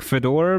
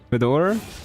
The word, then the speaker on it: Fedor: I think F feed Fedor is supposed to be pronounced like Fedor but with E like in French le Fedor.